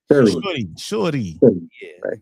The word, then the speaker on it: Shuri: Shuri.